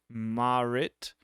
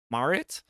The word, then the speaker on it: Marit: an eye on it uh moving on uh Merit Styles I I realize thanks to this article that it's pronounced marit marit marit Styles and I've been saying Merit so